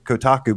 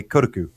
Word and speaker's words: Kotaku: and I you know I know Kotaku is still you're supposed to say Kotaku but something in my brain still makes me say kotuku for some reason because I'm just like